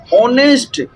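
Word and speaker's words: honest: एन ऑनेस्ट यहां पर H silent है। ऑनेस्ट इसको हम पढ़ते हैं। इसके लिए साइलेंट है। ओ से शुरू होता है साउंड।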